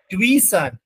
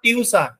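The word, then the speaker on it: tuition: আই টি আই ও এ এর উচ্চারণ spelling প্রোনাউন্সিয়েশনটা হবে টুইশন নট টিউশন টুইশন ঠিক আছে কিসের উপর নির্ভরশীল তার টিউশনের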